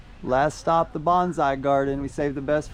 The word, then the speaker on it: bonsai: Last stop, the bonsai garden. We saved the best for last. All right. Oh. Oh. Konnichiwa. Konnichiwa. Arigato. What do we got here? What is a bonsai? Bonsai, pronounced bonsai, is a Japanese word that literally translates